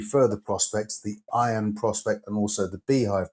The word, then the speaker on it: Iyan: The results from camp load, the results from Beehive, and then latterly the results from the Iron, that's spelled IYAN, also showed consistent results too.